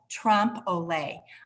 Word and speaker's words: trompe l'oeil: France, and it's called trompe l'oeil. I am using the English pronunciation of that.